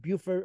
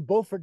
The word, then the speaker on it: Beaufort: bit different some of the nice things about Buford or bord North Carolina pardon me it's got a gorgeous